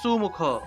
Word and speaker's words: সুমুখ: সংস্কৃতে যে জায়গাতেই আপনার দন্তস্ব পাবেন, মনে করেন যে সুমুখ উচ্চারণ হবে, এটা সুমুখ হবে না, উচ্চারণ হবে সুমুখ।